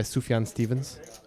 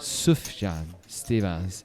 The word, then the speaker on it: Sufjan Stevens: right I don't think so it's not by Sufjan Stevens it's pronounced soothe John Stevens and I know it's not it's not a